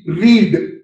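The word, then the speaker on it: read: एक मशहूर लफ्ज है आर ई ए डी रीड रीड माने पढ़ना अब यही लज को आप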